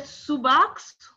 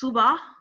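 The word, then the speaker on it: subax: not really and um i think x yes pronounced as h yeah because we said subox nangza exactly and they said it's subah exactly exactly because you know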